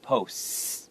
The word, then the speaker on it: posts: plural sound for P-O-S-T, the T can actually kind of become a little bit silent, so it's posts, like that.